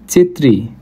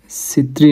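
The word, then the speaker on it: četiri: तिन चेत्री चार चेत्री चार च उच्चारण हुन्छ यसलाई चेत्री है सेत्री नभएर सेत्री नभएर के हुदो रहेछत्री हुदो रहेछ सेत्री सीलाई हामीले नेपालमा अलिकति डिफेन्ट तरिकाले उर्च गर्छौ तर यो चाहिँ चि च हुन्छ चेत्री चार पेत पाच यो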